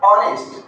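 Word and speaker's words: honest: मैंने इसका क्या उच्चारण किया? ऑनेस्ट।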